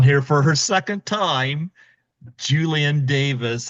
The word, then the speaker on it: Julienne: Julienne, Like okay. like it's French, Julienne. Oh, because I know it's the E there, not the A, Yeah, so I just wanted to make sure I was exactly.